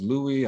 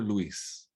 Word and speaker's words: Luis: pronounce my four-letter name i was louie i was louis but i was never luis and if i insisted on being called luis if i reminded people that my name is luis i'm hard to work